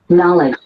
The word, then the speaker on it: knowledge: has lots of letters but only two knowledge and you say knowledge knowledge so it sounds like it sound like what like dancer like dancing dancing knowledge EX do the